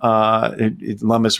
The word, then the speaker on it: Lummis: Look, Cynthia Lummis, Senator Lummis has been, or Lummis, sorry, has been, Lummis rhymes with hummus, I think.